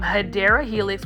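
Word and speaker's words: Hedera helix: here we do have a hedra helix this um hadera Helix which is the correct way to say English ivy um is is for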